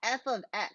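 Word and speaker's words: f(x): f of x um you pronounce it um f of x that's how you pronounce it if this was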